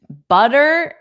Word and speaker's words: butter: Butter is also pronounced with the D's for sure.